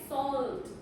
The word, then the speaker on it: salt: Okay, sometimes the L, the L, like salt. The L, you will hear it. Okay, you will hear salt.